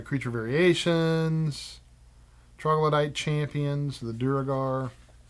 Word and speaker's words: Duergar: Then it has creature variations, troglodyte champions, the Duergar. That's how I pronounce it. It could be pronounced phlegm, but I think it's Duergar.